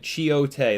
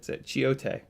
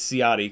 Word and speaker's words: Ciotti: It's actually in Italian. Ci is the pronunciation is ch. So my last name is in Italians get pissed when I say it's Ciotti because that's the American way of saying it. It's actually Ciotti.